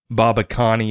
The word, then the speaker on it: Babakani: And then speaking with their CEO, Simon Babakani is how you pronounce his last name.